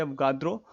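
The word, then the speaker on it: Avogadro: किसी भी व्यक्ति का नाम आप इंग्लिश में लीजिए तब पर भी उसी का प्रोनाउंसिएशन वही होता है, अगर आप हिंदी में लेते हैं तब पर भी वही होता है।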